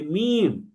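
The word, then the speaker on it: م: আর 2 ঠোঁটের যে শুকনা জায়গা অর্থাৎ যেটাকে আমরা পিঠ বলছি, এই দুইটাকে যদি মিলাই তাহলে উচ্চারণ হবে মিম।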